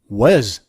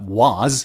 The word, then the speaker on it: was: Well, they don't say was. They say was. Was. Not was, but was.